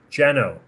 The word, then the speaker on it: Geno: Geno says, the way to say my name is genocide, but say it without the side. Geno.